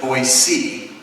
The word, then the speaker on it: Boise: and Boise Ida well they tell me I mispronounced it there it's voice C it's Boise Idaho they have this particular